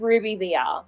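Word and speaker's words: RWBY VR: It's just called Ruby VR.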